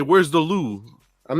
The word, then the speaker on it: Louvre: Louvre. The Louvre. It's just it. Come on. I was robbed. If you went to Paris and you say, where's the Louvre?